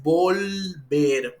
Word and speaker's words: volver: allí en la pronunci es volver Okay esa l debe escucharse muy fuerte Entonces sería todo por